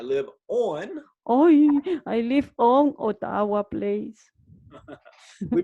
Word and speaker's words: Ottawa: I live on Ottawa Place. We pronounce that Ottawa.